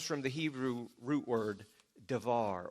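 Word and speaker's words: דבר: the hebrew root word davar or some people pronounce it debar excuse me it refers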